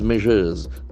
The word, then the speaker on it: measure: cause something to begin initiates what peace peace measures peace is a beautiful noun p-e-s-c-e-ps peace freedom